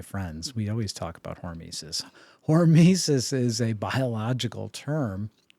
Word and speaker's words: hormesis: And that brings us to topic number 4, which you want to pronounce that word for us? It's hormesis, right?